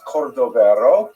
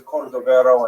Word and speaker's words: Cordovero: It's a Portuguese spelling, but it's kind of a strange thing to pronounce in Hebrew, so it was sort of mangled into Cordovero, and that has become the standard, even though it's probably not correct.